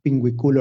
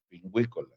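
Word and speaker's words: Pinguicula: También allí está la anemia tabascana y la pingüicula olmeca. Pingüícola. Pingüícola, siempre me regaña el doctor por Esta pronunciarla fue mal.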